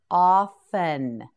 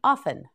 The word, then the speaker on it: often: often ah Fenne often the word often has a t in it but the T is silent often say it with me often yes again often one